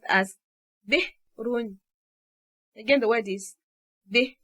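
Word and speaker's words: بئر: And so the word is pronounced as /b'run/. Again, the word is the /b'run/.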